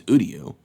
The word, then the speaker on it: Uryu: Did they, not pronounce that right? His name's Uryu.